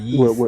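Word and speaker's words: Ys: ye that what it's called yeast uh yeast that's how they pronounce it it's uppercase y lowercase s oh it's called ye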